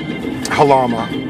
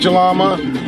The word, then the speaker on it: Jalama: down to uh uh halama it's actually they spell it galama and California probably say it jalama just like that Passover